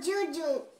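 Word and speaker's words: Djodjo: Et voilà ma grande sœur, Jojo. C'est mon surnom, Jojo. Oui. Comment ça s'écrit?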